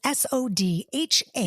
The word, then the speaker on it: Sodha: It's Sodha. That's it, but pronounced just the same. So I call my dad Soda Pops. Soda. Like Soda Pop.